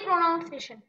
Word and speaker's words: pronunciation: You so break the syllable, we have to take a pause in the pronunciation. Not pronounce, but it's pronunciation. Pronunciation, not pronunciation. So pronounce, but pronunciation.